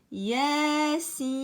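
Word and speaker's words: يس: Il faut prolonger le ya 2 temps et le sin 6 temps.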